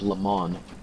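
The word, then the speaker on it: Le Mans: pronouncing it incorrectly it's le man oh you're pronouncing the and you don't pronounce the s all right this is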